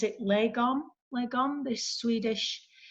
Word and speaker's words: lagom: It's the same with anything, I guess, and a lot of things like, how do you pronounce it? Lagom, this Swedish. Lagom.